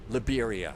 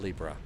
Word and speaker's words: Liberia: So, the only question that I've got is if we go to Li Libra, Liberia, I guess it's Liberia. It's not Libra.